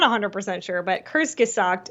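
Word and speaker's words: Kurzgesagt: Oh well, I'm not 100% sure, but Kurskasakt is how an American, pronounce it.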